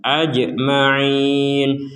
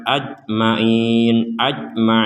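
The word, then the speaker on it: أَجْمَعِينَ: Kemudian di sini ada jim sukun, kita pantulkan ajma'in. Jadi tidak sekedar ajma'in kan gak ada pantulannya itu.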